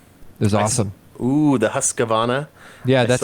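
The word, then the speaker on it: Husqvarna: yikes speaking of roombas i saw uh a hassavarra lawn cutter roomba this weekend it was awesome ooh the husqvana yeah that's how you say it i saw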